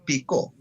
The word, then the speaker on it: Picó: Se puede pronunciar, si lleva tilde, Picó.